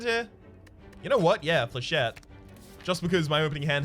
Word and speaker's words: flechette: Is it actually pronounced Flechettes? I wasn't trying to troll people with that one. I was pretty sure it was pronounced Flechettes. Oh, sorry, Flechette. Silent S.